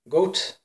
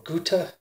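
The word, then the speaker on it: Goethe: by Johann Wolfgang Von goat or ghouta I guess depending on where you live the pronunciation pronunciation changes so yeah this is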